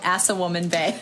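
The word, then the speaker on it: Assawoman Bay: It's called Ask a Woman Bay.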